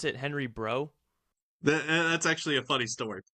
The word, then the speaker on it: Breault: I was like, no, I want to see your Breault collection. And and I kept insisting on it. And finally they politely said, the Breault family here pronounces it Breault.